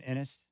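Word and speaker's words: Enes: would correct you hey what' you think about Enis tonight Enis caner I had a strong you mean inis remember when he did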